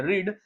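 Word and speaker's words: read: English में कहते हैं रीड लेकिन हम इसका थर्ड फॉर्म भी होता है स्पेलिंग सेम होती है लेकिन जो प्रोनाउंसिएशन होता है वो होता है रेड तो आई कुड हैव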